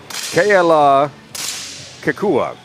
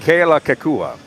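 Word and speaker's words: Kealakekua: You want to take a stab at the pronunciation? Joanne Suhako. Of the hometown there from Hawaii? Keala Kekua. Very good. Keala Kekua, Hawaii.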